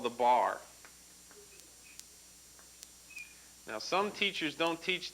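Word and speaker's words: barre: so the bar now it's spelled kind of funny here b a-r-r-e but it's pronounced bar just like b-a-r okay now the bar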